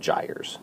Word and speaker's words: gyres: These system of rotating currents are called gyres, G-Y-R-E-S.